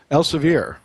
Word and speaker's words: Elsevier: His most recent textbook, Contemporary Aesthetic Dentistry, is published by Elsevier. Is that how you pronounce that? Elsevier? Elsevier.